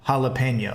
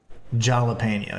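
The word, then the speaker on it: jalapeño: The H sound comes from a J. So that's why you say jalapeno instead of jalapeno, you know?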